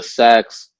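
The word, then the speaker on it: seax: And then the shorter weapon was called a sax, or it's spelled S-E-A-X, like Sikhs. Okay. But it's pronounced sax usually.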